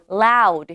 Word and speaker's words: loud: loud, 시작. 자, L 발음 살려주셔서 loud, 시작.